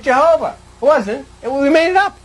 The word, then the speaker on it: Jehovah: was an H and this I in Latin is pronounced J so it became J H VH and we made it Jehovah wasn't we made it